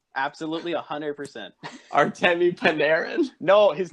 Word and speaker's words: Panarin: game and the free agency here, like the Peraninen and Bobrovsky class. Wait, the who? What was the P name? Peraninen. Peraninen? Yep, that's his name. Absolutely 100%. Artemi Panarin?